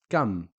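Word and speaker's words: كم: We're not saying ma, mu, or mi. We're just saying kam.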